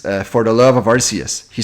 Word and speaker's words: Arceus: Arceus Legends?